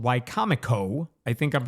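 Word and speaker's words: Wicomico: It's called Wcomo. I think I'm pronouncing that one right. It looks like Wiko Miko on paper, but it's Wcomo.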